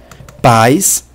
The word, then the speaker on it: pais: são duas vogais separadas pais pela pronúncia eu vejo que estão pronunciados juntos tanto a quanto I são pronunciados na mesma sílaba ou seja forma um ditongo decrescente de uma composto de uma vogal a com uma semivogal i é possível notar a